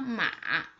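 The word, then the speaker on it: 马: The third one with the third tone,Its pronunciation is just like this. Mo a ma.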